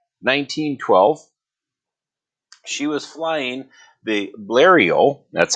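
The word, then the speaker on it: Blériot: on july 1st 1912 she was flying the blario that's how you pronounce that blurrio monoplane so a lot of the planes at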